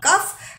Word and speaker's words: cough: यहाँ पे भी द साउंड इज फ, कफ, बट the letters used are GH, ठीक है, कफ।